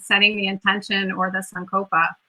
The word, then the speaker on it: sankalpa: So to your point, setting the intention, or the sankalpa, right?